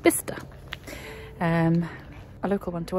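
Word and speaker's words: Bicester: sister b-i-c-e-s-t-e-r it's not it's not pronounced by sister or bisester it's pronounced bista um a local one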